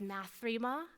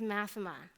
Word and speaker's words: Math3ma: Now you know it's not pronounced Math3ma. It's pronounced Math3ma.